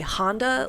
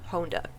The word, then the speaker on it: Honda: in the 2001 version they say Honda like the car but uh I do believe it was basically redcon in the 2019 version and the proper pronunciation is toru Honda now the series again